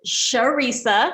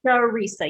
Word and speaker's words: Charissa: are mispronouncing your name so it is sharisa i think i always tell patients think teresa but add to the beginning so sharisa yes my mother was